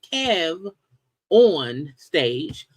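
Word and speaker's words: KevOnStage: I think the reason people mispronounce his name is because on social media you can't have upper and lower letters, because if it was capital K E V capital O-N, capital S. People would see this Kev on stage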